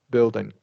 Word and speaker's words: building: you to uh when remember with building we're not releasing the G sound at the end oh okay yeah building yeah perfect yeah nice